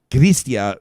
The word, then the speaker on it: Chrystia: including working with uh as they pronounce it gristia freelance team christopher freeland's